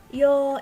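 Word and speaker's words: 洋: Ongnya adalah yo, ingat ya, panjang, yo gitu.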